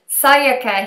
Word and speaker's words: Sayaka: We have Sayaka here. And did I say that right? Yeah, that's right. That's a more Japanese sounding pronunciation Oh, than most people.